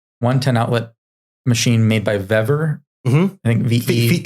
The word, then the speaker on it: Vevor: 110 outlet machine made by Vever. Mm-hmm. I think VE. Fever. Is that how you say it? FEVOR. VEVOR.